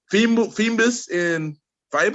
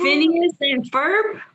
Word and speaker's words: Phineas and Ferb: Help me out if I pronounce this wrong. Phoebus and Fiber. Phineas and Ferb.